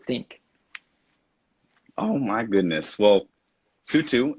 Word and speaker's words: Sutu: know what you think oh my goodness well sue too it's been a pleasure am i pronouncing your name correctly by the way because